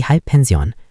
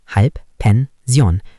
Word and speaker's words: Halbpension: Next German word is Die Halbpension. Pronunciation, die Halbpension.